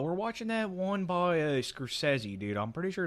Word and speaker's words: Scorsese: Oh, we're watching that one by Scorsese, dude.